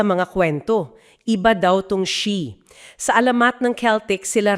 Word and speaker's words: Sidhe: Kami ang she pronounces she.